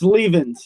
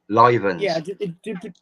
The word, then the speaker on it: Leavens: your surname as well it's leavens you had it right you got you're uh you're one of the very few that actually pronounces my last name right so yeah leavens yeah yes yeah what do most people call you then uh livens yeah yeah yeah I'm